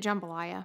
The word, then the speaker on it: jambalaya: sausage jambalaya jambalaya i i've always said it jambalaya but i guess i'm saying it wrong it's jambalaya okay wednesday we're gonna do